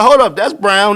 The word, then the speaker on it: Braun: It's like, hold up, that's Brown, that's Braun, but it's pronounced Brown.